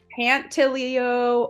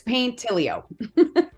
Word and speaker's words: Paintilio: wrong all the time they think it's pantilio or paintilo or pantillo but it's paint tilio yeah well it's smart